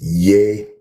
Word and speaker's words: Yehoshua: It is Yehoshua, not Jesus. Stop being lazy and train yourself to say his name, what it really is.